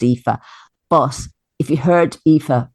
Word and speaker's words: Aoife: to tell people how easy they are to pronounce. Well, I mean, and like your main character, EE-fuh, it's like, EE-fuh.